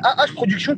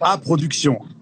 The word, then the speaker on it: AH Production: important oui ah non c'est a production a h on dit a a production voilà a production ok ah